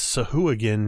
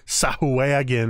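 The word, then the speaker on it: Sahuagin: Matt Mercer's dulcet tones told me it is so who again not sow away again or whatever the heck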